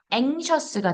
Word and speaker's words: anxious: anxious가 되고요. anxiety가 돼요. 강세가 뒤에 오니까 exit이 되고요. exist가 돼요. 예. 그래서 이 X를 중심으로 강세가 앞에 있으면 크스, X 발음이 강세가 뒤에 있으면 그즈가 됩니다.